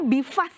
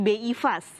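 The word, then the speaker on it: BI-FAST: Jadi bacanya BIFAS ya Pak ya, bukan BI Fast. Boleh BIFAS, mungkin lebih enak BIFAS.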